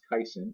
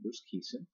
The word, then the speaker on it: Bruce Kison: pirate broadcaster pronounced aqui sin I've heard of pronounced caisson it's actually Bruce Kison I want to buckle on my team so